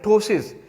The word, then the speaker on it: ptosis: एक और लफ्ज़ है दैट इज़ कॉल्ड जो है ना टोसिस। इसमें ये जो पी है दिस इज़ साइलेंट।